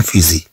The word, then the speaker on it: fusil: إلى بخي سون فيزي، طبعا فيزي هاد ال ما تتنطقش.